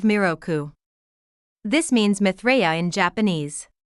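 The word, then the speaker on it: 弥勒: In Japanese, 3 is mi and 6 is roku. Therefore, when you combine 3 and 6, it becomes the pronunciation of miroku.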